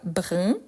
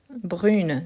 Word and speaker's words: brun: donnés on a brun donc attention à la prononciation pourquoi brun le féminin brune brune donc brun brune blanc blonde brun brune donc